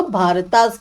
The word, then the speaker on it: भारत: Actual में क्या ना, भारता नहीं होता, भारत था, पर ए जो है ये लगाया जाता है क्योंकि जो इंग्लिश में ट्रांसलेशन हुआ उसमें जो जैसे हम लोगों का प्रोनाउंसिएशन राम है, बट जो जिनने भी ट्रांसलेट किया उन्होंने उसको रामा करा, इसलिए इंग्लिश में ज्यादातर ए हो गया।